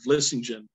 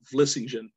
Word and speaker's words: Vlissingen: It actually comes from the word Vlissingen, which means salt meadow in Dutch. And there's actually a port city in the Netherlands called Vlissingen, V-L-I-S-S-I-N-G, G-E-N, Vlissingen.